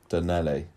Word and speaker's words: Donnelly: Donnelly. I'm going to say Donnelly. Because it rhymes with Gino Ginelli.